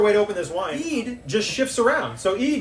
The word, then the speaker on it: Eid: One Eid. There's just one Eid. Oh, it's Eid singular. It's like share.